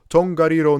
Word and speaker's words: Tongariro: This is obviously the land of Mordor, and it was probably filmed in New Zealand in Tongariro National Park, to be exact. Yeah, this is how you pronounce it.